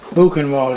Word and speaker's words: Buchenwald: Buchenwald is how you pronounce it, huh?